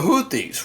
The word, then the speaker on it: Houthi: Now, who are the Houthies? Well, the the uh the leader of the Houthis, his name is Houthi or Houthi as they like to pronounce it.